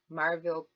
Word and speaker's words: Maryville: go down i think marvel pike and notice i said marvel it's spelled maryville but people call it marvel so marvel pike all